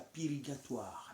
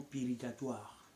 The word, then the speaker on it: purgatoire: est intitulé La pirigation beaucoup disent la pirigatoire bienaimés c'est bien de prononcer le mot pirgation ou les mot pirgatoires bienaimés moi te dire nous